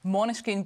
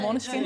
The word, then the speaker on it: Måneskin: Måneskin bei uns.